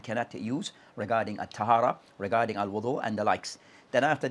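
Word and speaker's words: وُضوء: have clarified regarding for the word al-Wudu that can be pronounced two ways, with waw, with al-Wudu, with ad-Dhamma or with fatha.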